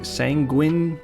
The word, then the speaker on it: sanguine: Sanguini gilch sang sanguin gilch sanguini gulch sanguini. Hold up. I'm going to I'm going to look up what the hell sanguini means. Sanguin. Sanguin. Sanguin. That's pronounced sanguin.